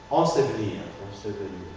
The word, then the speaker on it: ensevelir: dans le même mot, normalement, c'est la deuxième qu'on n'articule pas. On prononce la première, mais pas la deuxième.